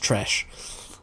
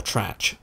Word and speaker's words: Tresch: I'm pretty sure it is pronounced Tresch. Or Trach.